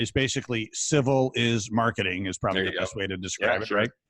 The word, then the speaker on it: Civilis: Yeah, Civilis is Latin for civilized. So it's civilized marketing, but it's spelled like civil is.